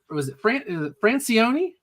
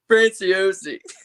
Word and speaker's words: Franciosi: Was it Francioni? How do you pronounce your last name? Franciosi. Franciosi. Okay. Franciosi. In high school, called me Francois because they didn't know how to say it.